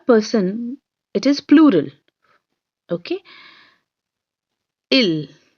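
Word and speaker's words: ils: it is plural okay ill it will pronounce as l only while s is still there but it will be pronounced as ill then we have which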